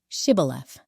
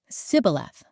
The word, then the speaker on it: Shibboleth: they would tell him to say, "Shibboleth." If he was from Ephraim, he would say, "Sibboleth." because people from Ephraim cannot pronounce the word correctly.